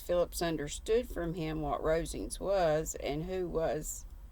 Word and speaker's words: Rosings: Phillips understood from him what Rosings was, and who was its proprietor, when she